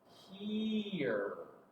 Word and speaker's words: here: This silent E is telling that E to say its name. Here. E-er. Here. Like, hey, come here, please. Here. Is the last sound, so the E is silent.